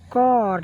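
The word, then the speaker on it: court: अब हम आ गए सी ओ यू आर टी कॉट यहां देखो अंडरलाइन है क यहां दबाव पड़ रहा है।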